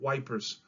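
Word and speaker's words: Ypres: It's pronounced yeetseps, although the British called it the battle of wipers.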